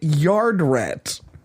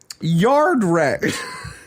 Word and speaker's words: Yardrat: said it's pronounced yardrat it just sounds like you're saying it faster yeah you have to